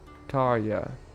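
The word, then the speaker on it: Tarja: Now, where's Tarya? Tarya.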